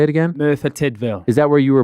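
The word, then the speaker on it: Merthyr Tydfil: a town how do you say it again Mera tville is that where you were born I was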